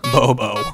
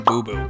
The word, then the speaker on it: Booboo: Some of you have taken to lovingly referring to BOBO as BOBO. BOBO. That's a lovely pronunciation, but her name's actually BOBO, just like her namesake, Honey BOBO.